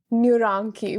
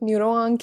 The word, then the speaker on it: NeurAnki: the idea or the concept of neuroni which is how I pronounce it was born well I have no idea so I'm certainly not going to correct you yeah it's a lot of people like to call it neuro an and then the other